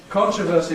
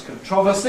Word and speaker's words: controversy: are some stress changes stress moving from the first syllable to the second syllable so that applicable becomes applicable that's the Top Line controversy becomes controversy that's the second line and formidable becomes formidable as the third line and you can see that the younger you are the more likely you are to have stress on the second syllable in those words